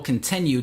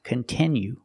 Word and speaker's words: continue: My team and I will continue to work hard to make content that you like. It's not pronounced continue. It's pronounced continue.